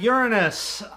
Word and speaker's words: Uranus: next up we have Uranus there's preferred pronunciation um the other one just leads to way too many jokes uh this was not